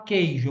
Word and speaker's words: queijo: A palavra queijo, eu falo queijo ou queijo, eu falo queijo. O U não é pronunciado, então aí é dígrafo.